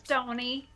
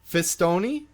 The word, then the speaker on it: Pistone: Pistone. Fistone?